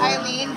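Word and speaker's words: Aileen: It's pronounced Eileen, but it's spelled with an A.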